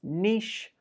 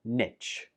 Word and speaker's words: niche: It can be pronounced as niche or niche.